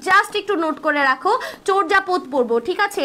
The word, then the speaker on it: চর্যাপদ: একটু নোট করে রাখো চর্যাপদ পড়বো ঠিক আছে এটার প্রোনাউন্সিয়েশন কিন্তু চর্যাপদ না চর্যাপদ চর্যাপদ পড়বো আমি তোমাদের থেকে